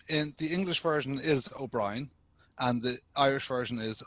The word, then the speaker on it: Ó Briain: My guest today is O'Brian. Did I get that right? I'm very comfortable with people mispronouncing my I names. hate that. No, tell me how to say it. So it's O'Brien.